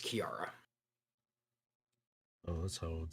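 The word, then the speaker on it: Key-Ara: and her name is Kiara and spelled k-e-y hyphen a r a oops spell that again for me k-e-y hyphen A R A but it's pronounced Kiara oh so I would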